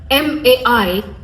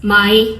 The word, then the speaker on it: mai: It's just like in Kikuyu, m a i it's mai, which is water, and it could also be mai, which is poop. If you say it wrong, it could mean something completely different.